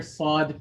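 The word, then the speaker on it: ص: place so first is how is the letter sod pronounced so it is pronounced when contact is made between the tip of the tongue and the back of the lower teeth so the tip of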